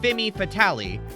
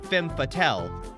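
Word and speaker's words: femme fatale: of How It's pronounced TJ said fimy fatali whereas it's meant to be F fatel shocked that even prickley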